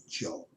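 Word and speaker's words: Zhou: the joe notice is spelled with a zh but it's pronounced joe how do i know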